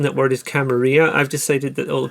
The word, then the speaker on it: Camarilla: The proper way of pronouncing that word is Camarilla. I've decided that all the people in London mispronounce it as Camarilla because that's the very English way of doing things.